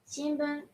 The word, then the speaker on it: shinbun: Shinbun. It's a newspaper. Shinbon. Since after n comes bu, we pronounce it as n.